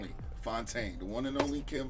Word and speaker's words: Fontaine: Fontaine, the one and only Kim Fontaine, legend, the GOAT.